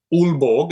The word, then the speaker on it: Aalborg: They played last week in Aalborg, it's pronounced, in Denmark.